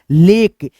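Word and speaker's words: lake: ना आगे बढ़ेंगे साथियों एल ए के ई है तो यहां पे आप बोलोगे लेक जैसे एफ ए के ई है तो हम लोग बोलेंगे दोस्तों पिकक यानी ई आपका सब शब्द में क्या है दोस्तों चुप है साइलेंट हम इसको नहीं बोल पा रहे हैं।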